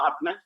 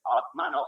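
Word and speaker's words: आत्मा: If there is no n, then how do you pronounce it? Take the n off, then how do you be? Atma. That's right. Atma, no Atman.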